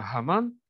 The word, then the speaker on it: Гаман: когда произносится слово «гаман», которое неправильно произносится «аман», потому что на самом деле он не «аман», а «гаман», то есть у него имеется четкое совершенно значение в иврите.